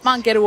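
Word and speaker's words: ファンケル: We got fankeru over here. So in Japanese, you say fankeru, even though it's written funko.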